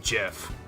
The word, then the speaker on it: GIF: saying that it's pronounced Jiff fight what no that doesn't make sense like the G stands for graphics not graphics [ __